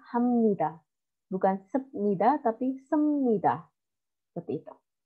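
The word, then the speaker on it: 합니다: cara bacanya omnidaya robot Jadi bukan hak Midah tapi Hamnida bukan sepeda tapi semudah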